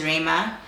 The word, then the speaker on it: Rhema: So my first name is Rema. So that's spelled RHEMA. So I just took the Ray.